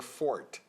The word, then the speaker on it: forte: it's jro oh uh Forte or Fort Forte Forte it's Fort really yes okay Etc or